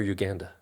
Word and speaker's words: Uganda: So, do I say Uganda or Uganda? Uganda. Depends if you're English or American.